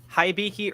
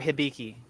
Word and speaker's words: Hibiki: sure so first off is it haibiki or hibiki okay that's what i thought chris you've been saying it wrong you gotta work on